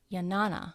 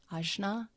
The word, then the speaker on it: Jnana: And I found this quote on Wikipedia as far as the path of Jnana. I'm not sure if I'm pronouncing it correctly. Jnana, there we go.